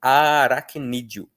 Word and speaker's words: aracnídeo: na hora da pronúncia, esse E vira um I bem fraquinho, no mesmo pique de várias e águia, então, e de planície também. Então a gente acaba pronunciando aracnídeo.